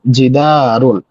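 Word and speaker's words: جِدَارٌ: chair বাবুন একটি দরজা জিদারুন এখানে হচ্ছে জিদারুন দালের পরে একটু টান হবে জিদারুন একটি দেয়াল কলামুন একটি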